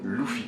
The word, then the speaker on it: Luffy: Pour moi ça se prononce Luffy.